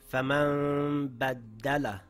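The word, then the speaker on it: فمن بدل: I changed the Noon sound to a Meem sound, coming through the nasal passage with my lips slightly open, holding it for two counts, ready to pronounce the next letter.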